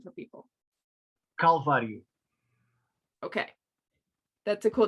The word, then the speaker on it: Calvário: Calvário.